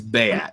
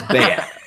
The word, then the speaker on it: Beat: His name's Bayat, and his name's spelled like beat, B-E-A-T, but it's Bayat.